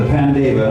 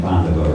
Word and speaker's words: Pandava: The Pandeva, I'm sorry I mispronounced it because I know you guys pronounce it differently, but Pandeva sounds stronger to me having an English background than Pandava or whatever.